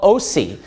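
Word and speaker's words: Osee: Hosea, you know, the book of Hosea of the Old Testament, he's called Osi. It's spelled O-S-E-E in the New Testament.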